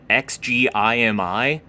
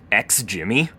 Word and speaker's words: XGIMI: And so, the projector we're actually using is the XGMI. I think it's actually pronounced XJimmy.